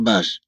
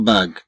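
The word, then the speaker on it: bague: لو أخذنا مثلا كلمة باغ، طبعا كما نلاحظ بأن جي متبوعة بهاد إي لا تنطق باج بل تنطق باغ.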